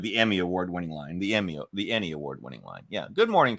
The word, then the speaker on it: Ennie: That's the way I was pronouncing it, like the Emmys, except for so instead of an Emmy, an Ennie.